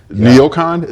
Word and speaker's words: NeoCon: So, industry and neocon. Neocon? Am I pronouncing that?